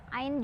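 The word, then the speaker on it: عين: Ain juga 6 harokat, tapi ada juga yang baca 4 ya. Kita coba yang 6 aja ya. ain, ain, gitu ya. Jadi 6 harokat ain.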